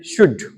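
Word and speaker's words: should: word है English में शुड एस एच ओ यू एल डी इसमें एल साइलेंट रहता है इसका उच्चारण होता है शुड शुड तो शुड मींस होता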